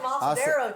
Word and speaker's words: asadero: Get yourself some asadero cheese. Asadero. Asadero. It's pronounced asadero or Oaxaca cheese.